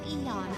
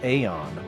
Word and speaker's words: Aeon: I pronounced it as Aeon. Because AE makes Aeon. Eon is E-O-N. And even if you were going to spell it this way, E-A-O-N would have been Eon.